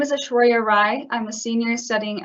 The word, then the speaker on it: Aishwarya: And our next presenter is Ishwara. I may be mispronouncing your name. Hi, this is Aishwarya.